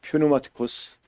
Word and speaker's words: πνευματικός: 그래서 이제 영적이다 그러면 퓨누마티코스 이렇게 발음하게 됩니다.